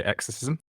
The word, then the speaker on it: Exercism: Maybe you can tell us more, what is Exercism? Do I pronounce it correctly? And what is that platform actually? Sure. You pronounce it fine. So I would say Exercism.